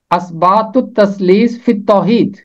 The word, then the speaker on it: اثبات التثلیث فی التوحید: اس کا تلفظ ہے اثبات التثلیث فی التوحید۔ میں نے آج تک کبھی کسی مسیحی کو اسے درست پڑھتے ہوئے نہیں سنا۔ اس کا تلفظ ہے اثبات التثلیث فی التوحید، کیونکہ تے کے ساتھ ملے گا،